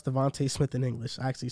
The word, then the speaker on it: DeVonta: Devonta has said it. He has said it's Devonta. He said it before? Yes. It's just clear as day. It's no A-E.